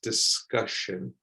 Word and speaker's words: discussion: and this one is discussion discussion so again you don't want to say the letter u as a u here it's like a discussion okay moving on from